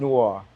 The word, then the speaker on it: Noir: to pronounce but it's Noir no is uh it's pronounced Noir but I told people if you want to say it right just say no R okay no R okay